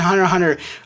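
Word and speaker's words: Hunter × Hunter: I pronounce the X in Hunter x Hunter, or Hunter x Hunter.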